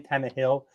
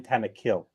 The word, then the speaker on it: Tannehill: Okay, I'm the king of pronunciation. It's not Ryan Tannehill. It's Ryan Tannehill.